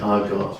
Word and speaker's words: argot: It looks like argot, but I'm pretty sure it's argo. Argo. Yes. Like the movie.